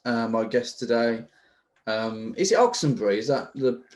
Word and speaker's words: Oxenbury: My guest today, is it Oxenbury? Is that the correct way of pronouncing it? It's Oxenbury, but my friends call me.